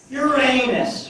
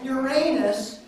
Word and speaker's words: Uranus: word for us Urus what it used to be called Uranus and now people are calling it Uranus is that a real